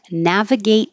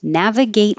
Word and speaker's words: navigate: a quick question and navigate water don't pronounce the final t on navigate just hold your tongue in that position and then the T in water changes to a flap or a d navigate water and we have